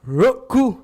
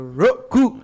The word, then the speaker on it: Roku: Roku. That's how you say it, boss. You gotta say it with the Roku.